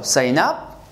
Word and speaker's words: sign up: sign up sheet so sign up sign up as a verb sign up you stress the second word as a noun you stress the first word sign up sign up